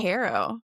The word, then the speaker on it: HARO: Harrow. Okay. I So didn't even know it was pronounced a different way.